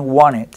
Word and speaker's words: wanted: en alguna parte que las tes después de consonantes de la mayoría de consonantes desaparecen entonces realmente ese Wanted se convierte en Wanted yo quería eso I